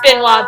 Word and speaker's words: Benoit: Yeah, that's pronounced Benoit Berry. It's a French name.